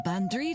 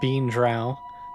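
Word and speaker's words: bean draoi: I'm the local bandri, Declan. A wise woman. I've come to minimize the damage of this damnable seance. Okay, so it's also not pronounced bean drow.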